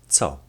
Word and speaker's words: co: The letter C in the Polish language is pronounced as t, which sounds like the letters T and S in the word cats.